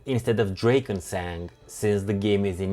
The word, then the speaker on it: Drakensang: mainly in German, and I make it a point to try my best to pronounce things in their original language if I can even remotely pronounce it.